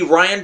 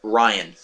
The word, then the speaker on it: Rian Johnson: The second one would be Rian Johnson, spelled with an A, not a R-A-I-N, not Ryan.